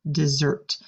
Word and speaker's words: dessert: to a dessert now notice the S sounds like an S here they say is dessert if you pronounce that